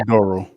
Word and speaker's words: Oduro: okay, I thought Josh yeah, Oduro. Adoro.